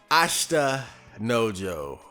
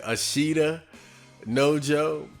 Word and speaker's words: Ashita no Joe: classic Ashta no Jo ofl I just always pronounced it Ishida no Jo and looking back it doesn't really make sense because it's not like like it's a sh t a it's not like